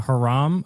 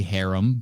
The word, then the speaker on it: harem: Well, I think what we have here, I think it's pronounced a haram. I think Steven Seagal has a haram of like perpetual 16 to 18-year-olds. Doing it again? It's definitely harem, but okay.